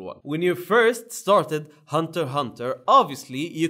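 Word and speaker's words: Hunter × Hunter: Hunter going hunting Jin Hunter Hunter okay no X but if you want to pronounce the X obviously no no problem man you do you it's fine now did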